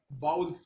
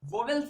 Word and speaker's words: vowels: और वैसे ही वी ओ डब्ल्यू ई एल को क्या पढ़ेंगे, वाउल्स पढ़ेंगे। एग्जैक्ट प्रोनाउंसिएशन आप देखेंगे, ऑक्सफोर्ड की डिक्शनरी में आप देखेंगे तो वाउल्स निकलेगा, वोवेल्स नहीं होता दोस्त, क्या होता है, वाउल्स होता है।